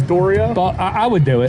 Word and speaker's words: Dario: Yeah, Dorio, right? Dorio. Now they found Listen. out that his name's Dorio.